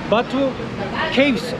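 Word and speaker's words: Batu Caves: büyük mağara tapınağına geldik Batu keyif olarak İngilizce Tabii Türkçe olarak yazılıyor okunur Ama Kehf olarak söyleniyor İngilizce burada hinduların burada Hac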